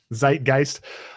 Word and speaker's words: Zeitgeist: I don't know how to pronounce it. Zeitgeist and part of that is there's the Overton window.